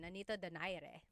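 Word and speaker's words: Nonito Donaire: So, Our first poll here is going to be Manni Pacquiao versus Nonito Daire or is in in the Tagalog uh pronunciation Nanito Dare.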